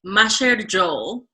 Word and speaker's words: macher jhol: up that's really good that's not how you pronounce it i think very close you have the intonation and the syllables correct it's very close material but